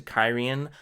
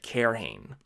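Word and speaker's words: Cairhien: time any of the POVs actually get to carrion I had looked it up by that point and was pronouncing it correctly but up until then I was calling it care Haines care Haines yeah um what's next here Quinn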